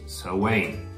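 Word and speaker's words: Samhain: had a party that reads champagne but is pronounced so wayne and well that party celebrated three events so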